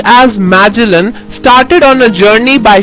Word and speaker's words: Magellan: In 1519, a Portuguese sailor named Magellan, pronounced as Magellan, started on a journey by ship from Spain along with other sailors.